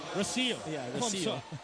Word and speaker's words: Rocio: Nico, I think you pronounce it as Rocio. Rocio.